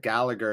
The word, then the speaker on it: Gallagher: with some insight yes we pronounce it with the g it's an irish name so i assume that gallagher is of irish descent